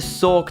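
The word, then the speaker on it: Sawk: that way only because it's meant to be a corruption of the word sock as in punch I'm British so the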